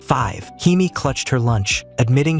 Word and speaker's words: V: It's pronounced 5.